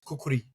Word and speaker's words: kukri: you know like I I read kukri which I am I saying it right vikram is that how you yeah yeah but I a nepali friend of mine said it's kukuri kukuri okay yeah kukuri but we can say kukri yeah so yeah I